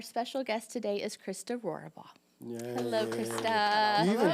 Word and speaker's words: Rohrabaugh: Wilson and our special guest today is Christa roora ball hello Christa you even said it right like